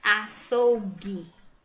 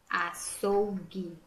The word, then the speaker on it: açougue: as outras vem para cá vamos lá o açougue açougue não pronuncia guitarra não pronuncia sangue não pronuncia mangue